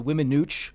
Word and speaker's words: Weminuche: It's the Weminuche Wilderness in southwest Colorado.